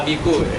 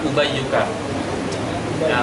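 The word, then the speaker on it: أُبَيُّكَ: Jaa uika jaauka uayyuka jaa ini dulu ada orang syariah bacanya jaa abiku benar kan jaabiku Kenapa dibaca Ubayuka? Karena dia kehilangan syarat mukabbar. Kalau dia tasgir, maka tasgir dikembalikan rabnya dengan rab isim mufrad.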